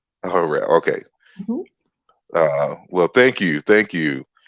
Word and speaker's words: Harrell: I pronounce it Harrell. Harrell.